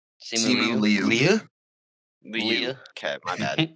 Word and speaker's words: Simu Liu: Simu Leah? Simu Liu.